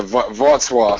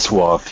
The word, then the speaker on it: Wrocław: Yeah, Wrocław. So it's like, Wrocław, yeah, yeah. the W becomes a V, and then the little like L thing becomes like a R.